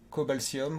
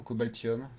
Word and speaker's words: Cobaltium: Nous avons eu Cobaltium ou Cobaltium, c'est comme vous voulez, mais normalement TI ça se prononce Sium, Cobaltium en lot.